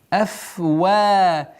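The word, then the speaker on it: أَفْوَاهِهِمْ: Афвахихим. Чтобы произношение звука ха не было носовым. Нет.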